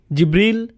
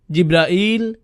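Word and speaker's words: جبريل: আপনি কিভাবে জিব্রাইল আলাইহিস সালামের নাম বলেন, কিভাবে উচ্চারণ করেন তার নাম? জিব্রিল, জিব্রাইল, জিব্রাইল, জিব্রাইল, জিব্রিল, এই 5 ভাবে তার নাম উচ্চারণ করা হয়।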